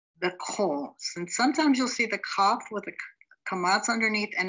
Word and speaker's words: Kaf: So let's look at the first one, Kaf. It has a hard sound because it has a dogish in the middle. It sounds like a K transliterated with a K.